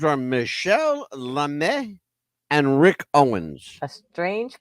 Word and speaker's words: Lamy: but l m y lamby it's French right it's everything's French please give me a break Michelle L it's l a m y but it's pronounced l a m e l say like that